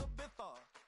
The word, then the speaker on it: Ibiza: I just went to Spain, that's a Ibiza. Ibiza, yeah, it's pronounced Ibiza, actually.